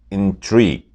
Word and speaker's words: intrigue: As a verb, it's intrigue. Intrigue.